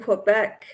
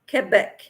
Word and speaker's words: Quebec: used to live in Quebec Quebec they don't pronounce the Q they pronounce it like a k kec good Lydia says